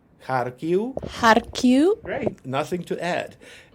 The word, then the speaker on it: Kharkiv: Just make sure there's no f at the end, but just a short u. The same with Kharkiv, Lviv. It's the same thing. It's the final v becomes a bit short, non-syllable forming u.